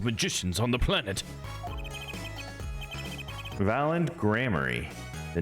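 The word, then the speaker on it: Gramarye: the true Miracle of troop gramier or sorry grammary wanted my own pronunciation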